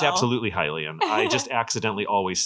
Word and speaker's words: Hylian: I've always pronounced Hylian the way you say Hyrule. Hylian.